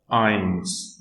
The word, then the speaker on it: ein: So for 1 we have eins. Okay, so here S will be removed and I'll say ein.